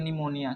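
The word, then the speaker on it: pneumonia: यहाँ से पढ़ेंगे इसको, NEUMONIA, निमोनिया, क्योंकि पी साइलेंट है।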